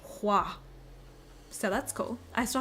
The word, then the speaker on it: Hoa: Oh yeah, okay, so I pronounced it Hoa forever. But I'm friends with on TikTok with the person who's doing like in charge of the physical release in the UK and EU and says it's pronounced Hua.